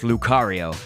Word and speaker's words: Lucario: but I knew that Lucario's name was pronounced Lucario I just did the